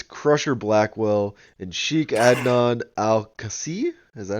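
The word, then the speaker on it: Al-Kaissie: It is Crusher Blackwell and Sheik Adnon Al-Kasi. Is that how you say it? Casey.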